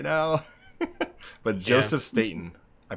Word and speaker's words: Staten: that means going on right now but joseph stayton i pronounced that right right staten yeah coming back to halo to help finish